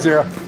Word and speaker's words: gyro: Gyros. Hey, with a G. I pronounced it that way yesterday too. Actually, there was a long time. I didn't know it was zero.